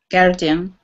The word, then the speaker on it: guardian: Guardian. Good. The important thing to remember is, like, don't try to pronounce the U.